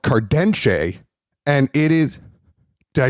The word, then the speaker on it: Cardenxe: but Luigi um you own a brand called cardenshe and it is did I say it right